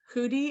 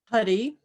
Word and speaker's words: Huddy: Hootie, is that how you say it? Huddy. Huddy, Yes. sorry. I'm sorry. Thank you. That's all right. I would just say it rhymes with study.